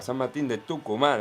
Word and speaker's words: San Martín de Tucumán: Boca le ganó 2-0 a San Martín a San Martín de Tucumán, así se pronuncia, querido Agustín Primi.